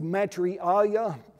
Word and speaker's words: Maitreya: as the, he's called by different things, the Maitreya, if I'm saying that word correctly, the Maitreya